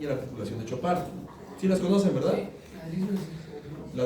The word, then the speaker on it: Chopart: Lis Frank y Chopart. Así se escribe como son de Chopart.